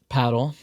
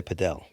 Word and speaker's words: padel: Yeah it's uh it's pronounced paddle. um Many people of people say padel. Padel is a a mix of people trying to sound Spanish but also you know